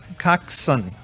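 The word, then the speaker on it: coxswain: swing is actually um a cock's son coxsen coxson is how it's pronounced right this is a non-athlete athlete who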